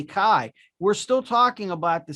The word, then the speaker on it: Caye: they could say tomato many people pronounce my last name k but i say kai we're still talking about